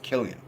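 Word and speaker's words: Cillian: and that works well for the zone um Killian Murphy and I know it's not silly atty Rhett I looked it up and his name is pronounced Killian perfect name for killed an actor place the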